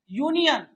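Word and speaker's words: union: यूनियन यूनियन शुरू होती है यू से लेकिन अ लगाइएगा क्योंकि य साउंड दे रहा है।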